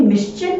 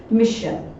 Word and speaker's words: mission: वो तो एस है, तो इसीलिए ये मिश्चन नहीं होगा। ओके, दैट वर्ड राइट और correct pronunciation is मिशन, that is मिशन।